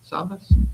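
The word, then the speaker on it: Savvas: Discussion and approval of the SAVAS. Did I pronounce that right? SAVAS?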